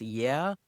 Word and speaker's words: YuE: lab that created this model says that it's pronounced yeah even though it's spelled yu um but but